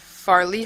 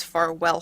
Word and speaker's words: Farwell: And I want to apologize, I just realized I said Farley Hall, it's Farwell Hall. Sorry, wrong pronunciation of the hall. I saw it written and I was like, oh yeah, it's not Farley, it's Farwell. Added an extra sound in there.